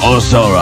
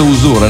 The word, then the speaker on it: Usura: Che gli inglesi la pronunciano, cioè una parola italiana la pronunciano Usura. Ma pronunciate Usura, è normale.